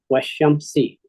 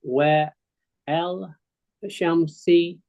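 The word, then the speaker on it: وَالشَّمْسِ: Weshamsi. Weshamsi. That's how you pronounce what you see. If a person said Wa El Shamsi, and I will give them an A.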